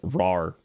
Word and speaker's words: RAR: I feel like it's one of those things that's like, yeah, because I always said WinRare, I guess. Whatever. But I suppose phonetically it is RAR.